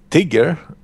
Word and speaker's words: Tiger: fan of that bridge tiger or tiger if you want to call it with the German pronunciation uh benefits of course